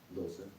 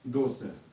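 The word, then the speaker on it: doce: Досе. Досе.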